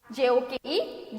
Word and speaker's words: joke: WALK we only say walk, MORE more, WRAP wrap, JOKE joke we only say joke. JOK का ही pronunciation आता है.